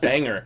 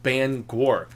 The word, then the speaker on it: Bangor: maine and she's like it's not banger it's bangor because it's like it's